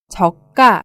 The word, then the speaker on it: 저가: 쌈 상품 을 의미합니다 저가 도 발음의 주의하셔야 하는데요 곧 가 처럼 저가 라고 발음합니다 다음은 저축 입니다 저축은